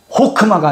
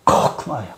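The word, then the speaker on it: חכמה: 그래서 호크마가 아니고 코크마야. 코크마. 코크마. 코크마. 옛날 어른들은 호크마로 발음했었지. 호크마.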